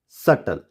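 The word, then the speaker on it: subtle: यहाँ हमको इसको डेप्थ नहीं पढ़ेंगे, हम पढ़ेंगे डेट, डाउट, सटल। ओके, चलिए आगे बढ़ेंगे और देखेंगे next alphabet C. सी is silent after S and before के एंड क्यू।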